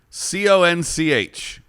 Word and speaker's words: conch: colonel oh cornell oh here's a fun one c-o-n-c-h it's pronounced oh i don't what is that it's